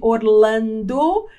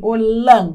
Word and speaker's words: Orlando: E olha a pronúncia correta de Orlando. Em português é assim, Orlando, né? Lando. Em inglês vai ser Orlando.